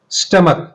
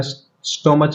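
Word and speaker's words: stomach: स्टमक, ध्यान दीजिए इसका उच्चारण स्टोमच नहीं है, स्टमक, स्टमक, ये हमारा स्टमक है।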